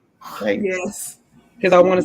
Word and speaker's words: Triton: Triton?